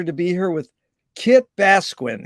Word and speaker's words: Basquin: But it's really an honor and a pleasure to be here with Kit Basquin. Is that right? How to pronounce it, Kit? Absolutely perfect.